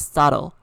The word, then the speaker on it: subtle: this okay so saddle the b here is silent okay so it's not subtle it's subtle it means very small